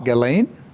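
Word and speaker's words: Ghislaine: daughter who is still alive and gain Maxwell galain is that it's pronounced galain galain Maxwell galain Maxwell and so you need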